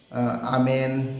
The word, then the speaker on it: ओम: Christianity से आमेन या आमीन बोलते हैं, आमेन बोलते हैं, और मुस्लिम उसे अमेन बोलते हैं, और हम उसे ओम बोलने लगे। एक्चुअल वो है आम, AUM, आम।